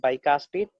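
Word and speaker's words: bicuspid: Right atrium called बाइकास्पिड, है ना, इसको हम लोग प्रोनाउंस करेंगे बाइकास्पिड।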